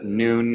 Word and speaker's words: Nuun: find out more about noon and the team and the company and our products if you go to noon and at uun so as a midday but spelled with use instead of o so nu u n